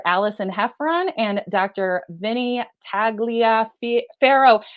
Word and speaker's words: Tagliaferro: guests today Dr Allison hefron and Dr Vinnie taglia Pharaoh how do you say your name Vinnie taglia faroh you got I love it I love it